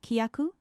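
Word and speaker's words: きゃ: It's not kia, but kya.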